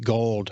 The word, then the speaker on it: Guild: principal architect with elely gold hard G Hardy Architects here in